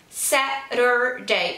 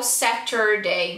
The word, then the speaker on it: Saturday: Saturday, então no sábado, Saturday ou Saturday, então tanto faz, tá? Na pronúncia aqui, Saturday, Saturday. Eu costumo pronunciar o T com R por causa de influência americana mesmo, mas não tem problema,